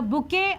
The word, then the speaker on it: bouquet: The bouquet of plas. The letter T is silent over here.